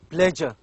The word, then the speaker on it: pleasure: sound let us say as a letter it's s but we do not say s we pronounce it as J pleasure treasure measure so this this sound is